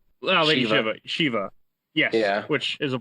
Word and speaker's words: Lady Shiva: Lady Shiva.